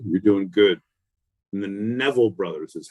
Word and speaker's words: Neville Brothers: it up buddy you're doing good and the Neville Brothers is how it's pronounced continue let's take off so her singing